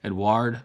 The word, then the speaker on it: Edouard: Bovet 1822, founded, as you can guess it, in 1822 by Edouard Bovet, and it's Edouard, and the E has an accento on top of it, right?